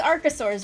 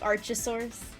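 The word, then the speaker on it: archosaur: It's arcasaur, right? Not like Archasaurus. I I said it right the first time.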